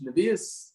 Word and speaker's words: Nevuah: Nevius, Navi. Nevuah. That's Yeshivish. Nevuah. That's Nevuah. Nevuah. He was saying Nevuah. Yeshivish, it's Nevius. No, proper Hebrew, it's Nevuah. He was saying Nevuah.